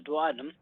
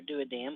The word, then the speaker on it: duodenum: Then after you digest and it goes into the duodenum, or duodenum, wherever you want to pronounce it. I've heard it pronounced both ways.